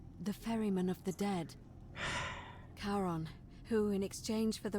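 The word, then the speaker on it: Charon: it's just as you described it only your pronunciation is a little off the name you heard wasn't karen a r o n as in caron the ferryman of the dead karon who in exchange for the right coin helps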